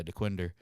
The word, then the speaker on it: Dequindre: I go oh that's Dequindre and he goes Dequindre that's how you say it I go yeah Dequindre and he goes oh